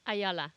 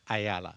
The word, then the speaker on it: Ayala: Ayala. Ayala.